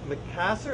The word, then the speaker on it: Macassar: This is going to be a back of a guitar, and you can see how this Macassar, is that the right pronunciation?